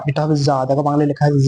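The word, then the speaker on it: ضاد: জা, জা, এটা হবে জা, দেখো বাংলায় লেখা আছে জা, এটা হবে জা।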